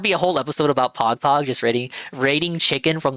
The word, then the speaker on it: Pagpag: No, it's spelled Pagpag like P-A-G-P-A-G. Don't think of like the Twitch Pog.